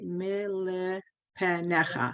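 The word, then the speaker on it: מלפניך: Okay, it's good, except the mem and the lamed, instead of going ni la, it's a syllable. It's nil. What you Mil. said is, yeah, mil. What you said isn't wrong, but this is more right.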